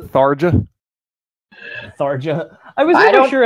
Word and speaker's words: Tharja: Tharia. I've never played a Fire Emblem. But you knew what it was! Yeah. Are you telling me it's not Tharja? Tharja.